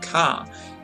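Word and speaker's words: 火: This is the symbol for fire. It's, pronounced ka, as in Kayobi, which means Tuesday.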